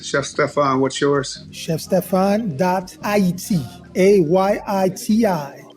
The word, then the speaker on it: Ayiti: ChefStefan.it, AYITI. This is the correct way to say Haiti.